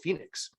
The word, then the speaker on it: Phoenix: Not finding one, he said, I'll solve the problem myself, and now he built Phoenix, or Pohonix for those of you who prefer that kind of pronunciation.